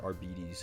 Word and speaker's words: Arbites: schematics adaptis are bees it's spelled arbites but obviously pronounced arbes cuz it's evil in Latin they're very um Judge